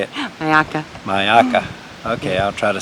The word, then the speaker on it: Myakka: Maya mayaki how do you say it ayaka mayaka okay I'll try to say it that way